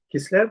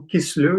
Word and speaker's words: Kislev: Alors, moi, Kislev, c'est ou Kislev, les deux se prononcent.